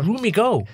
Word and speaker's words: Roomigo: Roomigo. So it's like Room and Amigo kind of merged together.